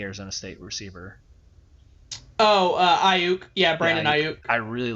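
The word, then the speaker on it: Aiyuk: you say the arizona state receiver oh uh ayuk yeah brandon i really like that pick i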